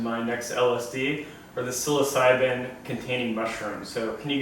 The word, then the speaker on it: psilocybin: but it's actually going to start with a p here right so psilocybin is going to be